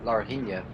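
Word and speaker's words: Laranjinha: I mean, when you go up the hill towards Larina, that's how it's pronounced, the uphill section before you go towards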